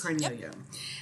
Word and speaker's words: Cornelio: I have Lindsay Cornelio, I'm pronouncing your last name right? Yes. Cornelio.